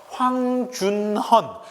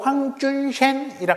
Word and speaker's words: 황준헌: 이 사람이 일본에 갔다가 당시 중국에서 일본에 와 있던 외교관이었던 황준헌, 중국식 발음으로 황준셴이라 하는 사람을 만나게 됩니다.